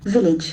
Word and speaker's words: village: Village. Village. The letter is A, but the sound is E.